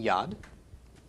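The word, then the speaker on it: יד: a Dalek okay so we pronounce the Y of V owed the short a of the comments and then the D of the dalit making Yad and this week I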